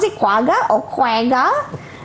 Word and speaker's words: quagga: Are you sure that's how you pronounce it? Quagga or quagga?